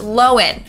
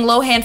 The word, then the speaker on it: Lohan: last name is pronounced lowen okay everyone's been saying Lohan for years but it was recently revealed that we're wrong it's lowen not Lohan anyways the downfall of